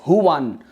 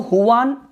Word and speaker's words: Juan: So even in those kind of circumstances, for someone like who is addressed as Huan, so Huan, you might spell your name as Juan, but it is pronounced as Huan.